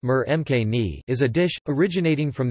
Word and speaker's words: murgh makhani: Butter chicken or murg makhani (Hindi: murga makhani, pronounced mur mkni) is a dish originating from the Indian subcontinent of chicken in a mildly spiced tomato sauce.